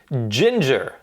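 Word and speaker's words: Jinjer: really good okay right Next Band Ginger now I'm aware of ginger it's spelled j-i-n-j-e-r they are from the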